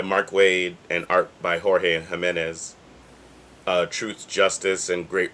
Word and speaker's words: Jorge: Waid and art by Jorge Jiménez. Truth, Justice, and Great Responsibility. I mean, yeah, yeah. It's pronounced George, but I'm gonna let it go because it could be Jorge.